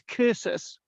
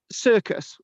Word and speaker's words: cursus: a curses k c c is pronounced K so it's cursus rather than circus or cersus curses as